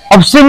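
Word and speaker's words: obscene: इधर ऑब्सैन एंड इधर ऑब्सीन सी SEN सीन ऑब्सीन मानी जेन की हौसला इधर होता हौसला जिनिस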